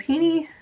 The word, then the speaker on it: Haney: last name uh was Haney and I was a very Irish name it rhymes with meanie fun times but in